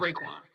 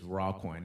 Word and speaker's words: Raquan: But if you say Raekwon, I'm like, nah, not Raekwon. nah, it's not Raekwon. but it's Raquan.